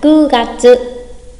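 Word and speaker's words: 九月: Nhắc lại, chúng ta có 3 tháng đặc biệt. Tháng 4 là Shi Gatsu. Tháng 7 Shichi Gatsu. Và tháng 9 là Ku Gatsu.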